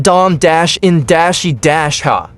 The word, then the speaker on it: Dominica: And pronounced Dom-in-ha.